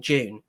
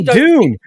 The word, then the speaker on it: Dune: I don't I honestly Dune Dune I'm so sorry okay all right the English pronounce yeah I just yeah I was like because it sounded like you were saying the month of June and I was like